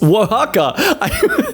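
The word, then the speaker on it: Oaxaca: village of San Augustine etla oh oh Mexico oaka for anyone who actually wants to know how to pronounce these things no wait scratch that it is Waka I was actually technically more right the first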